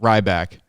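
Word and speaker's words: Rybak: former mayor's last name rybach is that how you pronounce that ryback yes which is a stephen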